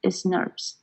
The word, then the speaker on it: snRNPs: presencia de estas proteínas y su pronunciación, vamos a proponer SNRNPS es demasiado, entonces pues se conocen como SNRPs, que son partículas ribonucleoproteicas